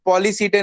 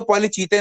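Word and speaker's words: Polychaeta: Lumbricus पॉलीसीटे नहीं है, ये इसको पॉलीचीते नहीं, इसको एच साइलेंट पढ़ते हैं, तो पॉलीसीटे है।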